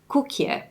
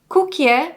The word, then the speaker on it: koekje: So koekje, which is spelt in Dutch with the OE sound and makes an oo, was converted to English using a single vowel sound.